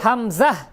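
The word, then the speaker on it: ء: আমি দুইটি হরফ লিখেছি এই দুইটি হরফের উচ্চারণ একই একই জায়গা থেকে হবে। একই জায়গা থেকে উচ্চারণ হবে। যেমন হলকের শুরু থেকে যেভাবে বলতে হয় একদম কন্ঠনাল শুরু হইতে হলকের শুরু হইতে উচ্চারণটা হবে।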